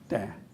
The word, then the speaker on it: Desjardins: Is that, I wanted to do we find- go with the French pronunciation, or are you Desjardins? Desjardins.